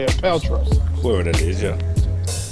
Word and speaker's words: Paltrow: Paltrow.